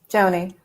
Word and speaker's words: Joni: And is it Joni or Jody? I'm saying it wrong. Joni. Joni. Okay, I said it right.